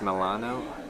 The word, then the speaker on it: Milano: out as we go it's pronounced milano with a strong milan mylan milano what here or in